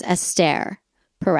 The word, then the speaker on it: Esther Perel: estare Pell she it's it's spelled Esther but everyone calls her aare she's Jewish and that's the Hebrew way of saying the word Esther so she is known as estere pel oh okay um she